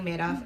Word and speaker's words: Madoff: how do you pronounce is it mad off he says no it's Madoff like he made off with the victims money and I I could